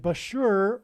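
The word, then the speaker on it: Bushehr: Bashur nuclear power plant, and Bashur rhymes with Barker.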